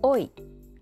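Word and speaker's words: hoy: おい、今日。H は発音しません。Y は単独ではイと発音します。Pasarse bien。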